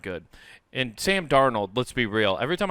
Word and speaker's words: Darnold: You guys got Sam Darnold, and then some.